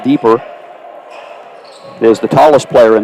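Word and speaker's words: Diper: 611 junior marial deeper it's about d-i-p-e-r pronounced deeper is the tallest player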